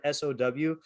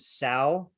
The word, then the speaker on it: sow: read the english word sow they would pronounce it sao and i had to correct them to say that it's so and a sau is a real word but it's a pig so i actually put